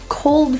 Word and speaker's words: cold: For most people, the L is difficult to pronounce when it has a consonant right after. So let's practice putting our tongue right to the roof and feeling the tongue tip make contact.